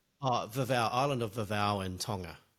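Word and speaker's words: Vavaʻu: Uh we're also going to be talking about a project that you have, Vava Ma. Is that how you pronounce it? Uh Vavva.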